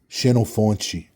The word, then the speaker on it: Xenofonte: And then in Portuguese, they say, in Brazilian Portuguese, they say Xenofonte. That's how they pronounce my name in Portuguese. But you see, that is different than Xenophon. Like, it's an attempt at approximation, but it's kind of off.